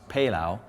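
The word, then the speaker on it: pelau: Actually, what we call it, from home it's called, it's pronounced pelao. Pelao. But it's something similar to the Spanish paella, which is with the seafood, but we do it with beef or chicken.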